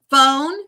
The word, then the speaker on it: phone: Um, phone. Yes. Why do we have a ph? It just sounds like an F, doesn't it? F O N E. Phone.